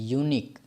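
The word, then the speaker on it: unique: दें गलत हो जाएगा पहले इसका उच्चारण देखिए कि किस तरह से होता है इसको हम क्या पढ़ते हैं यूनिक यो क्या है कंसोनेंट है जब कंसोनेंट है तो क्या लगेगा ए लगेगा यहां पर एन के स्थान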